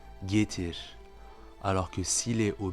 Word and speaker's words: getir: On dira donc getir, getir. Vous voyez que le R est très légèrement roulé, même presque comme un léger sifflement, getir.